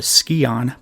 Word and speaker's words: Scion: collecting pieces of what the game calls a skon but I'm going to call a Sion because that's how I've always heard it pronounced and when she finally